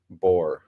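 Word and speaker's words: Bour: He spells his name B O R, but it's pronounced the same. It is Justin Boore.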